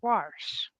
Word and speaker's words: wash: I need lessons on how to correctly pronounce the word wash. Although everybody will say there's no R in it, it's worse. I was gonna say I hate people that put the R in there.